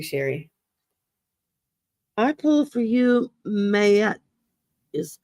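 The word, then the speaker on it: Maat: I pull for you, Mayette is how it's pronounced.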